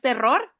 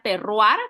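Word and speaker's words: terroir: muchísimo más específico Entonces el terrar no es terror vead es una palabra francesa se se pronuncia terrar como que llevar una u en vez de la O el terrar para la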